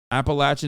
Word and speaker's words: Appalachian: awful for your health Appalachian is how you say it wait that no I